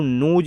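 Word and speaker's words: nose: इ लिखा है तो अंतिम इ का अपना कोई उच्चारण नहीं किया जाता है। तो जैसे कि आप एग्जांपल में देखिए एन ओ एस ई एन ओ एस ई तो इसको नोज पढ़ेंगे देखिए एन से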